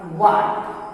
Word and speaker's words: what: जब H W के बाद आएगा, यानी H के पहले W रहेगा तो H साइलेंट हो जाएगा।